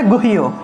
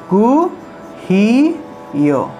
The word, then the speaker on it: গুহ্য: তারপরে মনে করুন একটা গুহ্য, রাজক বিদ্যা, রাজক গুহ্য যুগ, গীতার নবম অধ্যায়ের নাম, তাহলে গুহ, এভাবে গুহ না বলে গুহিও, এভাবে উচ্চারণ হবে, গু হি ইয়ো, এভাবে উচ্চারণ, গুহিও, ঠিক আছে?